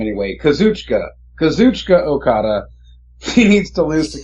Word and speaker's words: Kazuchika Okada: So, I mean, it has been around the waist of non-Japanese people before, but definitely, let me pronounce his name right first, the first name anyway, Kazuchika Okada.